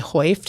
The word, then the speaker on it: Heuft: It's German, so I think it would be Heuft if you got real serious, but I just go by Heuft. I think you got to get more saliva in there if you're going to get the true Germanic pronunciation.